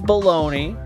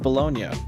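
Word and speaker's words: bologna: I know everybody says baloney, but it's pronounced Bolognia.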